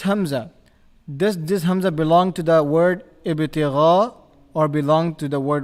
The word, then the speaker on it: ابتغاء: A is part of Ibtigha and not Ibtigha, wajhi.